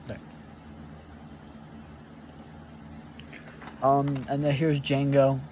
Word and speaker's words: Django: Um, and then here's Django. The D is silent.